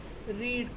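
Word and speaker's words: read: that is went okay रीड का हमें कुछ चेंज नहीं करना है हो जाएगा वो रेड स्पेलिंग सेम रहेगा बट हम जब उसे पढ़ेंगे तो हम उसे कहेंगे रेड ठीक है ऐसे ही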